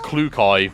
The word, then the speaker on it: Klukai: Clucky. Yeah, her name is pronounced Klukai, which, you know, isn't too much different from what you just said.